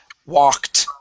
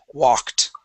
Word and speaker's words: walked: this word here is walked okay it ends with a k sound when it ends with a k sound that Ed also makes a t Okay this word is walked Walked great one more